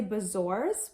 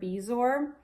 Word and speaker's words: bezoar: and B sores or in the movie they say bezoars but on if you google the word bezoar the pronunciation says bezoar so bezoars or bees or however you want to say it basically it's